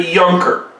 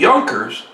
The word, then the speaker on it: Junker: Now, a German who has financial dealings is called a Junker. Now remember, in the German language, J's are pronounced more like Y's.